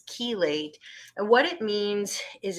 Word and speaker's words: chelate: word kilos which means caged so it's not pronounced chelate that's incorrect it's chelate and what it means is it's it's a